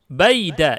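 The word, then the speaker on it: بَيْدَ: Baida itu bacanya baida nanti ya. Kalau dicontoh nanti baida. Dan dia sebenarnya artinya adalah ghairu. Mungkin aslinya itu baidu, mungkin ya, kurang tahu juga. Harus dicek lagi di kamus. Tetapi kalau dilihat daripada contoh yang nanti kita baca, bacanya adalah baida.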